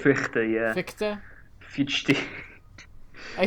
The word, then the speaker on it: Fichte: Fichte, right? Fichte, yeah. Fichte. I say Fichte because, like, it's Fichte, and I'm American, so it's just like, oh, this is obviously Fichte, right?